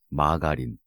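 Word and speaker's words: margarine: 마가린. 미국 발음으로는 마저린이라며.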